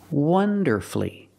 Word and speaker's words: wonderfully: masterfully he sang beautifully and he performed wonderfully wonderfully three syllables don't pronounce a you you have two